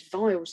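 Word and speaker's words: Weil's: this biological agent by its non-formal name which is vile's disease even though it's spelt with a w so leptospirosis so leptospiro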